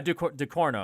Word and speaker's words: Ducournau: She's from France, and her last name is probably pronounced something similar to like Ducournau. Yeah, Ducournau.